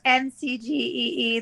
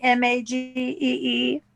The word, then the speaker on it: Magee: I type, I always think it's McGee, and it just the C is not pronounced. Yeah. It's actually Magee, far more common in Ireland than here, I guess.